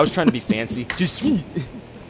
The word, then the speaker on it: Jesuit: Just to make sure that we're back on the pronunciation chain, that's Jesuit. Jesuit. I was trying to be fancy. Jesuit. I put the wrong emphasis on the wrong syllable.